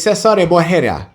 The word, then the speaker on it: Caesar: name his name is Cesar and for those who mispronounce his name it's Caesar boura white Jesus that's